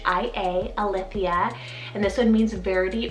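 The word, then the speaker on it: Alythia: here on the list i have the name a lithia spell a l y t h i a a lithia and this one means verity or true then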